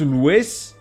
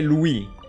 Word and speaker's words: Louis: Louis chat in French we don't pronounce Luis we say Louis the S is silent okay wait he has